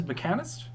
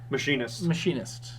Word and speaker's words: Machinist: And this card is Mechanist? Machinist. Wow. Mechanist. I've heard it pronounced every way. Okay, well, they're wrong. It's wrong.